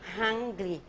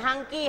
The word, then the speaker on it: hungry: แปล ว่า หิว Hungry Hungry เหอะ ๆ ออก เสียง แบบ เออ H Hungry Hungry เออ ไม่ ใช่ hungy hungy ไม่ เอา Hungry Hungry มัน เหมือน มี ควบ กล้ำ มี เหมือน กระดก ลิ้น Hungry I'm not Hungry ฉัน